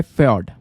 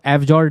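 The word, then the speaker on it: fjord: तो दोस्तों इसका जो प्रोनाउंसिएशन है वो है फ्योर्ड। तो इसको एफजॉर्ड नहीं, फ्योर्ड करके प्रोनाउंस करेंगे हम।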